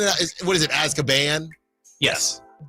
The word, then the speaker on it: Azkaban: Hey, the prisoner of Azkaban.